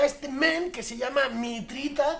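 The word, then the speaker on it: Mitriță: Y luego tenemos a este men que se llama Mitrita, con acento en la T por debajo, es maravilloso.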